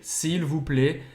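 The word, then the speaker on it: s'il vous plaît: final do Lego fundo do le sirvo Player sivuplê esse I com acento circunflexo lê e a mesma pronúncia e lhe sirvo pra você não vai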